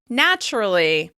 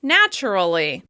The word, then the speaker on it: naturally: As you can hear, I'm saying this word with 3 syllables. Naturally. Some people may say it with 4 syllables. Naturally. However, I tend to drop that schwa sound.